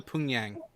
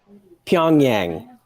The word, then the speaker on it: Pyongyang: no go further up go to punyang pyongyang i mispronounce it purposefully to piss them off oh sorry punyang that's